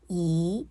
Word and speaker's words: 一: few more examples to become familiar with the pronunciation yí yè yí jiàn yíyàng yíbèizi So I repeat When one (yī) is followed by four tones, yī should be pronounced as yí, understand?